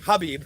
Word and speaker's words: Khabib: Khabib Nurmagomedov, love him, Habib. I keep calling him Khabib. I know the K is silent.